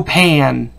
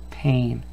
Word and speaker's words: pane: fix the window pan see again that silent e guys oh and that silent ease at the end it makes this letter have the long sound aim pain without the silent e we've just got the little sound and pan that's what's happening here